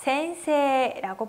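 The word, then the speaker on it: 先生: 센세이. 따라 읽어보실게요. 센세이. 네, 원래 히라가나 발음은 어떻게 되죠? 센세이인데 세와 이, 즉 에단과 이단이 만나서 앞에 있는 세 발음을 길게 발음했었어요. 그래서 센세라고 발음하고요.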